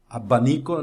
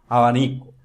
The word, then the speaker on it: abanico: Mas quando um espanhol, quando um latino pronuncia as palavras abanico e pavo, já o som já não é abanico nem pavo, não é pavo, é pavo, abanico.